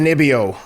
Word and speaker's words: Ponzinibbio: How do you pronounce it? Ponzinibbio. Yeah, Ponzinibbio.